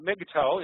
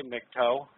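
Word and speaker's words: MGTOW: by mras um uh now Migo is something I just said in a lot of our audience will not know what that means that's a pronunciation of an acronym mg W which stands for men going their own way and those of us who are Savvy of it often just say mtoe short um Warhammer asked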